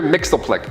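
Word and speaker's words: Mxyzptlk: powers of Mr Mixel which is spelled so differently I had to like write it in like you know a dictionary where it breaks it down Mr Mixel Plick yeah he was supposed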